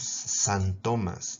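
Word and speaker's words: xantomas: Los santomas, ¿no?, que se escribe con X.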